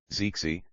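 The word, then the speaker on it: 谢谢: Zixie. Thank you. Essential for polite interaction. The second is pronounced in the neutral tone.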